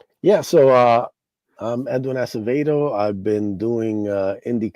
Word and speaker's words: Edwin Acevedo: Edwin Asavdo? Did I pronounce the name correctly by the way? Yep, you got it. All right. Yeah. So, uh I'm Edwin Asavdo.